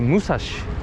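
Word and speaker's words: 武蔵: 634 meter is uh we call the six in japan like roku and three like me oh no and therefore like she so once you pronounce it in japan in japanese language uh it's called the musashi and the musashi is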